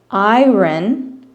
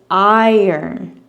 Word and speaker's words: iron: I've heard some people say iron, which I understand what you're saying, but the way that Americans say it is iron.